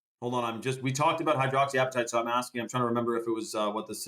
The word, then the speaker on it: hydroxyapatite: Toffee Man says, talk about hydropataki. I know, I forget how to pronounce that, but hydroxyapatite. That's right.